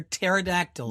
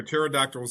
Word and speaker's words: pterodactyls: You don't hear pterodactyls. You don't hear pterodactyls in the restroom. In the restroom. Yep. Why? Because the P is silent.